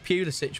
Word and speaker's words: Pulisic: It is Pulisic. Get the hell out of here. That's how you pronounce it.